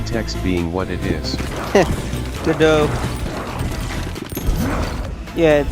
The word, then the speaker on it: Godot: Godot. Yeah, it pronounces things too literally.